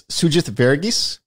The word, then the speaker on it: Sugith Varughese: I will, because he helped me make sure I got the pronunciation right. It's Sugith Varughese.